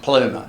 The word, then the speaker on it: Plomer: screen um so actually his name was originally pronounced ploma as it looks but for some reason he decided he wanted it to be pronounced pluma so he insisted on being pronounced plumer for the rest of his life um and i suppose